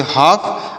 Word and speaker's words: half: यल का प्रोनाउंसिएशन नहीं होगा, लिखेंगे लेकिन इसका प्रोनाउंसिएशन यहाँ पर नहीं होगा। यफ का प्रोनाउंसिएशन हो जाएगा फ। तो इसे पढ़ेंगे हाफ।